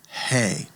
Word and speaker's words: He: the Hebrew alfet and it gets the the breathy sound hey. In fact, that is emblematically that's what hey is supposed to be. It's it's supposed to be the representing the breath. And so hey, the fifth letter gets the h sound he and many times it'll